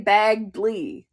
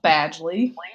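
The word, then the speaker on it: Badgley: Hen Badgely. Badley. Badgely. Yep. Never know how to say his last name. I always want to say Baggley. No. Badgely.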